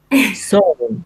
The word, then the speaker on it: Samhain: comes from the ancient Celtic festival of Sama, Samhain Showing. show. Okay, sowing. Okay, Yeah, sowing. Kind of gathering. exactly. Okay. Yeah, I every time I look at this word, I feel like I should say Samhain, but it's not.